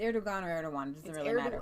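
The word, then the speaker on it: Erdoğan: that it matters but I think it's pronounced err too long it's airdog honor I'm just saying if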